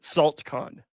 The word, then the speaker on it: NACLcon: And if you haven't caught on by now, that's the chemical what you call it for salt. So we pronounce it saltcon.